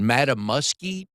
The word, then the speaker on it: Mattamuskeet: Your high school so let me see if I can pronounce this right, if I've got it right. Is it Okay. Mattamuskeet? Madam Mesquite, you did very Mattamuskeet good.